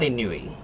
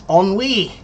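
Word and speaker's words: ennui: And no it's not inui. It's onwi.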